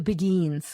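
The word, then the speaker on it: Beguines: about I'm not sure if I'm going to pronounce this right but the Beguins the Begins the Begins okay uh who were lay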